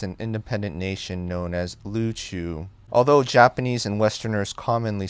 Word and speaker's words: Luchu: independent nation known as luchu although japanese and westerners commonly say uriu today luchu is the native pronunciation i am native luchuwin and it's also historically the most common pronunciation so that is what